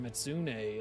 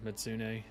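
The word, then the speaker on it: Mizutsune: But this gives me just another extra investigation on a tempered Mitsune. It's funny. Everybody says Mitsune, but I think it's Mitsu Mitsutsune. Mitsutsune, I think is how it's pronounced.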